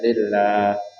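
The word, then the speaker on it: لله: itulah spellingnya itulah ejaan-ejaannya lillah dia atas lam yang tengah tu dia panjang sikitlah lillah jadi anak-anak jangan baca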